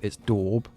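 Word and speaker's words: daub: I apparently I've been saying it wrong. It's not dabb, it's dorb.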